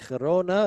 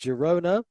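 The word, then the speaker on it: Girona: kickoff uh was kadei against Herona against Jona depending on how Spanish Lee you want to pronounce it the homeside kadif though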